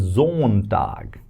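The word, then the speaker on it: Sonntag: That is zon tag zone tag sun zone sun right that's how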